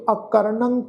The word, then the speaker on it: अकरणं: महाराज कह रहे जी अकरणं क्रोध, अकरणं ऐड़ा कक्का रारा नानी उत्ते टिप्पी की मात्रा का नासकी उच्चारण करांगे अकरणं क्रोध, अखाद्य, खाद्यंग, अखाद्य, खाद्यंग।